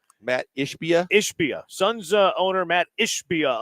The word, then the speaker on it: Ishbia: Matt Ishbia.